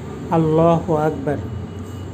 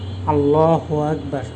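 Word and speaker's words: الله أكبر: এভাবে উচ্চারণ হয়। আমি আরবিটা বলতেছি। আপনারা আমার মুখে মুখে বলেন। আল্লাহু আকবার। আল্লাহু আকবার। লা ইলাহা ইল্লাল্লাহু ওল্লাহু আকবার। আল্লাহু আকবার।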